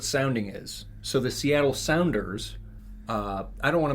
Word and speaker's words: Sounders: The Sounders. Yeah, it's spelled like Sounders.